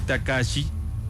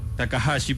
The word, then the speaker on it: Takahashi: Su nombre es Kenchi Takashi. Takahashi, perdón. Takhashi. Así métale el la pronunciación.